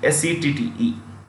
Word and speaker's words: Sette: In Spanish, the J is pronounced with an H. Okay, so Jose becomes Jose. Jose. Jose Seti. Settee.